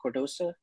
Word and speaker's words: Cardoso: All right, it was like Reese and Cardoso. Is that how you say it? Cardoso?